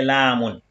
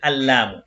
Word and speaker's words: لام: Si je prends la lettre Lam, la prononciation sans l'article c'est Lamun. Et avec l'article Al-Lamu.